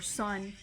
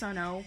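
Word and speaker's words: Sunn O))): had a sticker for sun it looks like it's pronounced sonno but it it's actually Sun the Drone metal band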